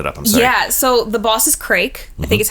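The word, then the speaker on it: Crayk: So, the boss is Craig, I think is how you pronounce it.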